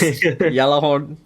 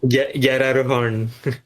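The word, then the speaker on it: Gjallarhorn: Apparently the G is silent or something, but Yeah, it works lah. I mean, Japanese pronunciation is different. And Yeah. it's still legit. Because I took it from the Mobile Suit Gundam I'm Blood Orphan. So they pronounce the G. Yararuhorn. But the G is almost silent.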